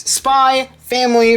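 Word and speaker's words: Spy × Family: when but this is spy family from tatsuya Endo yes I don't pronounce the X and spy family I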